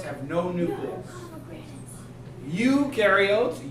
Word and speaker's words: eukaryotes: have no new rules eukaryotes you rhymes with do because eukaryotes do have